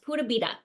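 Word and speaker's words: pura vida: this Costa Rican philosophy which is called It's pronounced purab it's spelled like pure aita and it means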